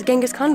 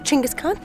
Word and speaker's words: Chinggis Khan: I know in the West we were always taught his name was Genghis Khan, but here it's Chinggis Khan, and that's how it's pronounced.